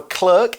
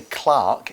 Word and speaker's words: clerk: just a clerk here so a clerk and sometimes in England we might say Clarke in this case it's pronounced both ways occasionally a clerk is